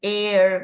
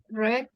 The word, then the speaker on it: R: A veces decimos air, ¿verdad? Pero es R.